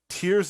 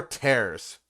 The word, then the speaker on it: Tears: Legend of Zelda uh tears of the Kingdom or tears it's it's spelled t-e-a-r-s which is like yeah I would say tears of the Kingdom that sounds better that's that's what I